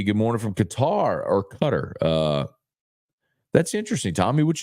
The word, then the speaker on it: Qatar: 911 we learned that it's actually pronounced cutter instead of Qatar uh and then the